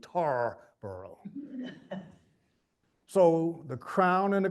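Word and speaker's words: Tarboro: the colonist and so it's not going to be T bur anymore it's going to be tar burrow so the crown and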